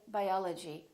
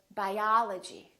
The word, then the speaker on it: biology: in the word biology we don't say biology we say biology biology I'm studying biology